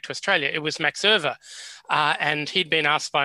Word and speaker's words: Euwe: And when I said Euwe, because I learned how to say it, no one would understand what you were talking about anyway. So you had to say Euwe, and then people would understand.